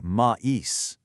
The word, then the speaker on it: maïs: French word for corn, maïs, would just merge into may, which honestly just sounds like the French word for butt or the English month of May. The trema forces us to say maïs.